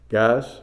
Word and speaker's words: Gaius: G-A-I-U-S. I'm going to say Gaius. Guys, however you want to pronounce it.